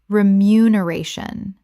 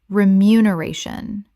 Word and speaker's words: remuneration: Common mispronunciation. Remuneration. Correct pronunciation. Remuneration. 6 syllables with the stress on the fourth, and not to be confused with remuneration, which is not a real word.